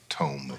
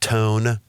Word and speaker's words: Tome: I always have to say T-O-M-E, not tone. Tome rhymes with home.